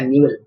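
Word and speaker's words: Newell: लेकिन न्यूअल मेथड जो है, न्यूअल मेथड जो प्रोनाउंसिएशन इसका न्यूअल, वो बड़ा रोबस्ट है।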